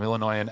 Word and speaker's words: Illinoisan: We have our resident Illinoisan. Is that how you say it? Illinoisan? Yeah, Illinoisan Al here, who we'll get to in a second.